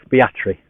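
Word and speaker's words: Aspatria: this Village I think spell espatria but pronounced locally as fiatry rather bizarrely oh he's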